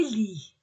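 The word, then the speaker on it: lits: on ne prononce pas on ne prononce ni le T ni le S les lit le train le train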